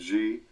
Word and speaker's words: Xi: Her first name is X-I, that's G, it's pronounced G, Van Fleet, V-A-N space F-L-E-E-T.